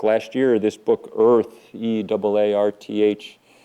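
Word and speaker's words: Eaarth: year this book Earth EA rth you kind of have to uh Channel your inner Schwarzenegger to sort of pronounce it correctly Earth um um um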